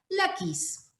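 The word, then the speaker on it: Laquis: era esta ciudad de la kiss o la equis los hebreos como todas sus palabras son agudas o sea con el acento la última sílaba ellos la van a pronunciar la kiss mi nombre es hebreo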